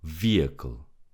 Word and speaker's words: vehicle: Vehicle. Vehicle. The H is silent and we say vehicle.